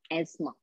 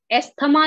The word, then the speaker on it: asthma: बट इट is your एस्मा. ASTHMA. एस्थमा नहीं बोलेंगे, अस्थमा नहीं बोलेंगे, एस्मा. TH जो है वो साइलेंट है. सो नेक्स्ट टाइम जब भी प्रोनाउंस करेंगे तो बोलेंगे एस्मा.